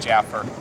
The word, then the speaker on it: Jaffer: Is it Jaffer or Jaffer? Jaffer.